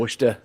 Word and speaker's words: Worcester: start with these start off easy what's that worcester yeah what's the very good worcester worcester very